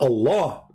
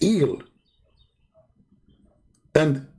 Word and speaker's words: Allah: sound of a music still it's illa it's not Allah it is ill idiot illa that sound at the end the little tiny itch is not really even an edge it's like a music sound they added like for something holy to make it more beautiful is that even part